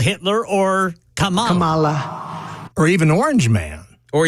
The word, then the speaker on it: Kamala: But apparently people are bashing President Trump, former President Trump, whatever, because he was mispronouncing Kamala Harris's name last night.